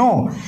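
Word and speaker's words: know: নো মানে হচ্ছে জানা, কে এন ও ডাব্লিউ, নো। এই জায়গায় আমাদের কে এন ও ডাব্লিউ উচ্চারণটা হবে নো, নো এর পাশপম হচ্ছে আমাদের নিউ, পাশপাটিল ফর্ম হচ্ছে আমাদের নোন, নো নিউ নোন।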